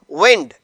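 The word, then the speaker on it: wind: इसी का होमोग्राफ है विंड। डिअ स्टूडेंट्स यहां पर अब इसकी प्रोनाउंसिएशन इसका तलफुस मुख्तलिफ है। विंड पहला हमने पढ़ा था वाइंड। यह है विंड।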